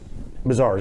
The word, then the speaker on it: Mazars: um for us this is the new name mazars mazars I pronounce it correctly so give me give me